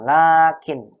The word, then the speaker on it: لكن: Lakinnya dibacanya tetap panjang ya, Ustaz. Laknya panjang tetap. Laknya baca panjang. Lakin.